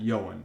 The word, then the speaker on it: Johan: It's spelled Johan, but I'm pretty sure he pronounces it Yoan.